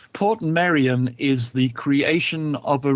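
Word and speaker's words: Portmeirion: of Wales there is a wonderful place called Port Maran Maran by the way is spelled m e i r i o n Port Marian is the creation of a really offbeat crazy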